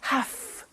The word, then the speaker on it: have to: i have to notice i don't say v i say f have half it becomes have to have the two becomes in pronunciation have to have to okay so i have